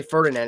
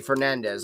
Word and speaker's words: Fernandez: by AJ Ferdinand's or Fernandez. I don't know why I always say Ferdinand. It's actually Fernandez. I always say AJ Ferdinand. It's AJ Fernandez. Fernandez. Damn it. Get it right.